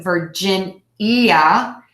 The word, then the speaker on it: Virginia: Vermont Vermont Vermont Vermont Virginia ver gin yeah for gin yeah Virginia Virginia be careful not to let that I ate at the end sway you enter saying Virginia it's just three beats